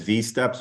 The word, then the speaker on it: Wsteps: You may hear some people refer to that as V-steps because that's how the Swedish people pronounce the W.